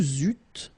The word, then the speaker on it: eûtes: Vous eûtes, same thing here, and then the link, vous eûtes.